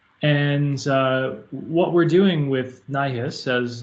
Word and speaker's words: NIHIS: And what we're doing with NIHIS, as it's pronounced, is a lot of things, and I'll get into this a little bit more when I get to the slides.